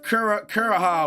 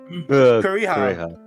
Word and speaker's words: Kureha: He had a formula for it, and then when he died, he gave Kuroha whatever the formula, and then she finished it, and then she set that shit off.